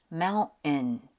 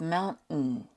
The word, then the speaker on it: mountain: They're saying mountain instead of mountain, curtain instead of curtain, and button instead of button.